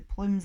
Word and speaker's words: Plume: It was all my idea, said Mrs Plume, pronounced plum.